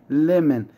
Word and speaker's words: lemon: lemon خلي بالك اوعى تقولها حاجة تانية غير lemon. lemon الأو ما بننطقوش.